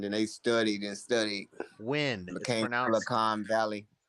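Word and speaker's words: Nguyen: Win. Became Silicon Valley. It's pronounced win.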